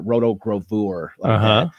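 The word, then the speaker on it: rotogravure: so roto roto grav you could say pronounce it roto grover but um but anyways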